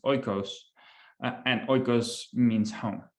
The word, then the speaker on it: oikos: I think phonetically it's actually pronounced oikos, and oikos means home, like literally.